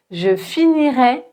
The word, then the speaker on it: finirai: Pour le conditionnel présent, on va prononcer et un e ouvert. E, je finirai. D'accord ? Et pour le futur simple, on va prononcer un e fermé. Et je finirai, je finirai.